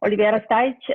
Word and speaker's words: Olivera Stajić: du hast mich schon vorgestellt und es fast richtig ausgesprochen. Nein, Spaß. Olivera Stajic ist mein Name.